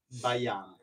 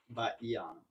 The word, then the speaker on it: Baiano: Baiano. Emphasis on the E. Yeah, E. Baiano.